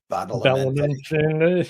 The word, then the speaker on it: Badalamenti: Angelo Badalamenti.